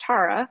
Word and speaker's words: Tara: So my name's actually pronounced Tara. For those of you who didn't know, it's a 50-50 shot, but you'll learn.